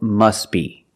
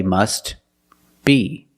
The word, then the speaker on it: must be: The T is silent because it's between consonants when you link the words. Must be. Link the sounds, s with a b, s, b. Together, must be, must be.